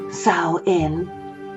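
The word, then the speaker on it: Samhain: For it is from these reaches of Britain, that a festival called Sain, pronounced Saoin, was annually practiced in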